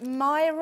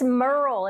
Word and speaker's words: Merle: of this is it mirror or mirror or mirror it's merle it rhymes with pearl oh very nice merle